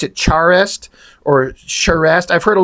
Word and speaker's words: Charest: Charest, but it looks like you'd pronounce it Charest or Charest. I've heard a lot of people say it differently. The only reason I know it's Charest is because Richard Friend, the inker, who worked with him on WildC.A.T.S.